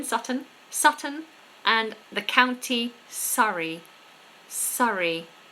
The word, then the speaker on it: Surrey: And the county Surrey. Surrey. Similar but different to the word sorry.